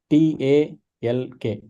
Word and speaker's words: talk: Talk, the spelling of talk is Talk, right? Now, if you just join together these sounds for T, A, L, and K, right? That's not how you pronounce talk, right? The L is kind of missing, right? You don't see the sound of L in the when you pronounce the word talk.